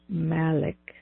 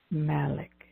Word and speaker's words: Malik: through it's called al Malik Malik and that is spelled M as in Mary a li k Malik Malik al Malik is